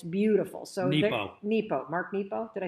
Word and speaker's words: Nepo: when he wrote this and it's beautiful so nepo mark nepo did i say it wrong nero i said nemo finding nemo i'll just read